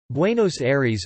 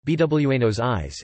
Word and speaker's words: Buenos Aires: Buenos Aires, or, Spanish pronunciation, Buenos Aires, is the capital and largest city of Argentina.